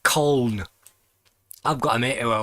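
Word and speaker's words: Colne: nelson and corn and nobody else outside of corn can pronounce it black corn they call it cone i've got a meteor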